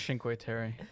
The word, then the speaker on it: Cinque Terre: Yeah, well, she definitely pronounced it wrong. Never mind. Yeah, I think it's Cinque Terre.